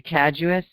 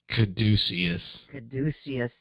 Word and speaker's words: caduceus: and i thought that i would read the casus so how you say it caduceus thank you the caduceus is a common symbol